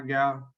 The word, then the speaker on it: Gal: Hi, Gal. Am I pronouncing your name correctly? Yes, you did.